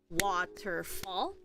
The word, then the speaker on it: waterfall: Waterfall, so that's 3 syllables. Ter is also being stressed by these colons, and fall is also being stressed. And we also have the dark L, which makes a ul sound, like umbrella.